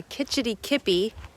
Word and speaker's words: Kitch-iti-kipi: Kitch-iti-kipi is how you pronounce this.